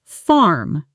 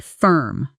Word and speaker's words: firm: Not farm, but firm with that short sound like in bird or word.